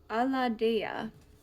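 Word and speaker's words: Aladiah: This angel is pronounced Aladea. Aladea, with the 6 of Pentacles, the favorable god.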